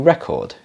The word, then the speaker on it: record: Now, the question is, how do we pronounce this? You want to make a copy of something, do you record it or do you record it? Well, when it's a verb, we put the stress at the end of the word, so it's record.